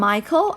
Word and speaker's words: Michael: อ่าน ว่า Michael แต่ ถ้า เป็น ผู้ หญิง อ่าน ว่า มิเชล นะ เขียน เหมือน กัน ออก เสียง ไม่ เหมือน กัน นะ คะ 2 คน